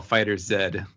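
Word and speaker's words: FighterZ: Dragon Ball fighters II how do you pronounce that fighters I've seen its Dragon Ball Fighter said that's what they say okay good to know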